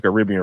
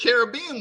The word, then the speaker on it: Caribbean: can laugh at me because Americans don't say Caribbean right. How is it supposed to be pronounced?